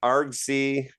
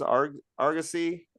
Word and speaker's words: Argosy: And but probably his standout, like here I am, a fantasist, a science fiction writer, was in Argosy. Is that how it's pronounced? Argosy?